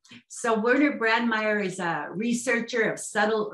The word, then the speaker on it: Werner Brandmaier: always have just heard your first name so werner brandmeyer is a researcher of subtle earth energy fields